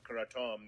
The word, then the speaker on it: kratom: can't correct somebody like it's pronounced kratom they're like fuck you yeah i mean it's it's hard it's a thai word i was trying to i tried to be respectful of the thai word and thai you're right